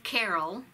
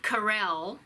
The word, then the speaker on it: Carell: Benson was it a Steve Carroll I mean I'm sorry pronounced it wrong a Steve Carell right be Kelsey Grammer